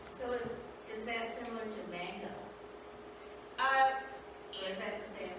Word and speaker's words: manga: So is that similar to manga? Or is that the same as Barbara's? Manga, it's pronounced manga.